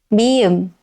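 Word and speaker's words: 미음: Okay, next is mi-eum.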